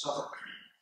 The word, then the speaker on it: Southwark: And then on the right, an Adam and Eve plate, 1635, from the Pickle Herring Pottery of Southwark, which is, I understand, pronounced Southwark, in London, dated 1635.